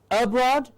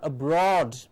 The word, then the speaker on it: abroad: what is the difference you can hear clearly that the accent stress is on a different part of the word so this is a rule that we have to remember that any time there's a weak prefix a weak prefix is just of one single small syllable like in the accent and the weight of the word as we can also call it falls onto the root of the word the words are on